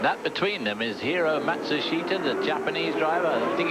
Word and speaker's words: Matsushita: But it's 4 syllables as far as he's concerned, and 3 syllables as far as the family and the sponsors concerned.